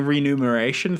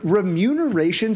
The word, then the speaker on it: remuneration: bad joke it's and the fact that we're getting renumeration through patreon is like did you say renew or review I think ramune is corrects I said it wrong on purpose remuneration sounds like something